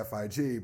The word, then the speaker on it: FIG: international federation of gymnasts i don't know why they pronounce it the fig but fig isn't bad right um apparently they have